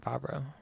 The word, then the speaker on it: Favreau: Could we call him Favre or should we call him Favreau? I've always heard it pronounced Favreau.